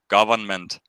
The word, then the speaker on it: government: what I mean government you don't have to pronounce that n for for government even the word government